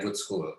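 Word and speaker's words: Gudskul: uh what we call good school it's pronounced like good school it doesn't mean anything with school but it's just like it's uh it it pronounced like the english word but like written in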